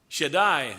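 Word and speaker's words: Shaddai: Shedai is the name as we would pronounce it that the Hebrews that Abraham as a matter of fact uh knew God as.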